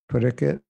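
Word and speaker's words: Parikshit: with Bengali, you know, dropping the S, Parikit. It's spelled S-H-I-T, and he would say Parikit, and he dropped the S-H. So, Dinanath Prabhu, the conclusion is you're all forgiven.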